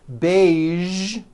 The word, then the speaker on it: beige: Now, there are only a few words that have the voiced zh sound at the end. A few of these words are the color beige, the word massage, and the word prestige.